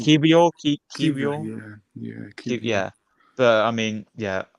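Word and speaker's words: Kiwior: So any Polish fans watching, I think it's Kivio.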